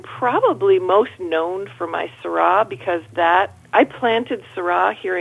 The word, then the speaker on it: Syrah: that said, I heart Syrah on my car. And people would say to me, seriously, 16 years ago, they would say, oh, is that your daughter's name? Is it pronounced Sarah? Yeah, exactly.